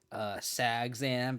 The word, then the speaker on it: Sagzan: If it's Ab Saga or Saga Zan or Mana Symbol came up on Twitter to call it Sagzan because it rhymes with Abzan.